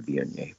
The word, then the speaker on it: Viognier: It's spelled V-I-O-G-N-I-E-R.